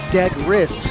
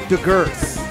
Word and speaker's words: Degris: And I'm not going to tell you who picked Degris, but the person who picked Degris wrote on the card that is pronounced Degris, not Degers.